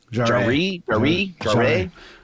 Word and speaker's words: Jarre: It actually started with Kevin Jarre. I think Jarre is the Jarre. It sounds right pronunciation, but he's the writer, and he's literally